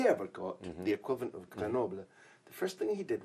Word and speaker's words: Grenoble: Is that okay for pronunciation? Yeah, Grenoble. Yes. It's okay.